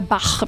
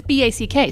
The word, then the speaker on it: Back: Or Bach. People try to make it crazy. I know. Yeah. But it's B-A-C-K, so it's back.